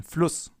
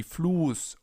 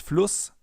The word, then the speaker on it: Fluss: Because in front of a double S, the vowel is always pronounced short, as in Fluss or Kuss, for example.